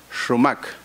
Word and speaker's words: XumaK: significa florecer significa fluorescencia se escribe con existir de dos tiles en la x y se pronuncia realmente romak sobre eso viene a